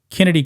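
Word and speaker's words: Chennedy: and Chicago Sky guard Kennedy Carter I just found out that's the way you actually pronounce the name yeah now with a K with with a CH but then in a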